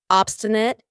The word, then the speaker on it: obstinate: We have obstinate. Obstinate. And notice how I pronounce it with a schwah at the end. Obstinate, not obstinate. This means refusing to change